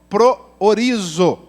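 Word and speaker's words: προορίζω: Para quem não estava aqui, a palavra em grego se pronuncia dessa forma, proorizo.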